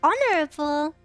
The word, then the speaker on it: honorable: Which of the H starting words are there that we don't say the H in? I don't know if I can think of any. Ombre. Well, okay, that's not English. Honorable. That's just how it's pronounced.